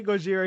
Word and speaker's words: Gojira: still can't even pronounce gojira correctly either yeah oh and god forbid you actually say gojira here everyone's just gonna think you're racist even though you're saying it the right way i i just don't